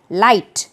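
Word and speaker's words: light: वैसे ही fourth word है लाइट, इसमें भी GH साइलेंट होता है, लाइट।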